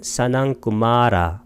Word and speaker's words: 사낭꾸마라: 빨리어로는 사낭꾸마라, 말을 길게 발음하면 됩니다.